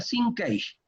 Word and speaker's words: sinkage: Sincaje. Se pronuncia sinkage.